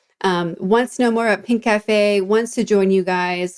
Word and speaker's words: Pinkafé: We're at Pinkafé. Pinkafé spelled without the C. So it's just Pinkfe.